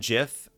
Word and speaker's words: GIF: the gist really is both gif and jiff are acceptable pronunciations they both make sense for how the word is spelled but the creator of the format said it's jif so i'm like okay